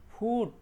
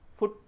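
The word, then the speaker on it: foot: তাই যারা নন native English speaker থাকেন তারা কিন্তু এটা কি করে পড়বেন, কুক, পুল, ফুট, রুট। আসলে এটা ভুল প্রোনাউন্সিয়েশন, আমরা কুইক উ সাউন্ডটা প্রডিউস করতে হবে এখানে। যেমন কুক, পুল, ফুট, রুট।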